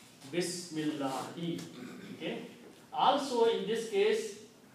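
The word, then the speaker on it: بسم الله: The meaning of this swad is, do not pronounce this alif here. Bismillahi.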